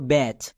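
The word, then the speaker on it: batch: এর জন্য চো হচ্ছে তাহলে বি এ এর জন্য ব্যাচ আর টি সি এইচ এর জন্য চো হলো ব্যাচ এরপরে সেকেন্ড ওয়ার্ডটি হচ্ছে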